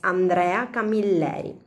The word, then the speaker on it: Andrea Camilleri: Maybe yes, or maybe you pronounce the word in a different way. Andrea Camilleri or something similar. I'm just kidding you. In any case, the right pronunciation is Andrea Camilleri, and his popular character is the Inspector Montalbano.